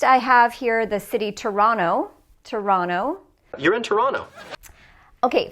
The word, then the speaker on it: Toronto: fast speech okay so look at the word Toronto or Toronto which syllable has stress Toronto the second syllable Toronto so when we're speaking quickly because this syllable is stressed the T can be dropped okay the next part